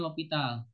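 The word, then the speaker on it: L'Hôpital: nulisnya hospital, tapi bacanya L'Hopital.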